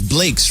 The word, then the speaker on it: CANDYBLEAKZ: How am I pronouncing it right? It's Blakes, right? Yeah, BLEAKZ, BLEAKZ.